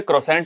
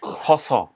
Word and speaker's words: croissant: वाले तो बथेरे हैं, तो हम लोग तो उससे पहले क्रॉसेंट बोलते थे, फिर पता चला कि croissant।